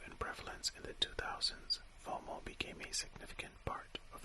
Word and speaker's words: FOMO: The acronym FOMO, pronounced FOMO, stands for fear of missing out.